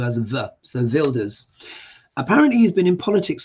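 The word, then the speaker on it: Wilders: well of course the Dutch and germ say Pronounce W as so vildor apparently he's been in politics for 25 years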